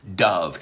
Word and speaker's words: Dove: ¿Se llama Dove? No, no se pronuncia así, se pronuncia Dove. Y Dove es paloma blanca.